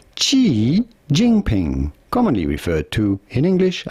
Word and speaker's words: Xi Jinping: We are looking at how to pronounce Xi Jinping, commonly referred to in English as Xi Jinping.